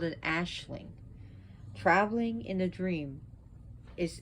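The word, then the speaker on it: aisling: this is called an ashling traveling in a dream is it's spelled a-i-s-l-i-n-g but it's pronounced ashling so he sends people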